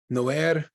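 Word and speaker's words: Noair: want to go see No Air nazin how do you spell that it's n o a i r like nowhere in a the last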